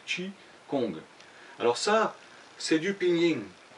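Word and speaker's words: qigong: conte la voyais cela ça s'écrit chi kong mais ça se prononcent pas comme ça d'avoir que ça se prononcer tchi kong alors ça c'est du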